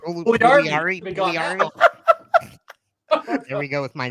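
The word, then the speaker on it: Puljujärvi: Pugliarvi. Pugliarvi.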